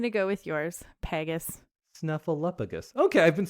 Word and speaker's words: Snuffleupagus: Snuffleupagus. Okay, I've been saying it correctly, I guess. But it's weird because it has a FLEU in the middle. Like flu.